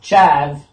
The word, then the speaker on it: chav: According to Wikipedia, a chav, pronounced chav, is a stereotype of certain people in the United Kingdom, also known as a charver in Yorkshire and the northeast England.